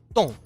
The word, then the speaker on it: temps: le temps الطقس اس لا تنطق في الأخير.